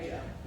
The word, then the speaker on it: Ebejer: So we say Ebejer. My parents got sick of telling people the J is like a Y.